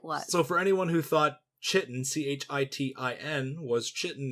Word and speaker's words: chitin: So for anyone who thought Chitin, Chitin, was Chitin, it's actually chitin. So I'm gonna pronounce it Chitin.